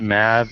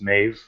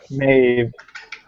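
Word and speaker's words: Meabh: you know what the thing I always love is when people pronounce it Mav, even though it's M-A-B-H and it's pronounced Mave, according to the Gaelic. Yeah. I Yeah. speak English. Maeve.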